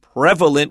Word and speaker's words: prevalent: prevalent it means common we don't say prevalent it's prevalent with a short e sound and I agree generally